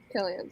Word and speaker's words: Cillian: Yes, Cillian Murphy. Killian, sorry. Sorry, I don't know how to pronounce It's it. spelled with a C, okay?